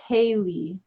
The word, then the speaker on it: Caleh: My name that my mom gave me is Kaylee. Just Kaylee, but it's spelled the same way, Caleh, or no, it's Caley,